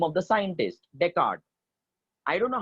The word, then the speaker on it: Descartes: or a scientist Anantha deckard remember children it's a French word is Dunamis silent a it is not desk artist it is Deckard Descartes does these rules